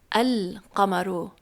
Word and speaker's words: القمر: But when you put alif lam in front of qamar, it becomes al-qamaru, so you pronounce the alif lam.